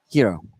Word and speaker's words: gyro: Do you Oh, pronounce it gyros or gyros? Hero.